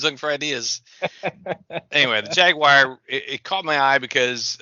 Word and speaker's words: Jaguar: It sounds like you're saying Jaguar. Oh, I said a little bit too syllables, too distinct. The Jaguar. Yeah. That's a good name. You could JAG and then WIRE.